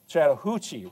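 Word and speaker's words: Chattahoochee: right down here, the Chattanooga or excuse me, the the uh Chattahuchi River.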